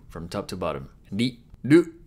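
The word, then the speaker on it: る: Ru. Ru is pronounced like a combination of ru in rule or root and lu in loop.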